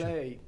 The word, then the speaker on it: Calley: ¿Cómo se pronuncia bien el apellido tuyo? Calley. ¿Cómo es? Calley. Calley. ¿Y origen en qué? Belga.